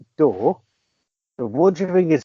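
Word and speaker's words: Radcliffe: Daniel R no pet his surname is spelled D R so it's it's pronounced door but wonder you think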